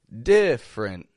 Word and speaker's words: different: first off we have different spelled with three syllables but we drop that one e in the middle just two quick syllables different every same thing